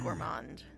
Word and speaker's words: gourmand: I believe that's pronounced gourmand.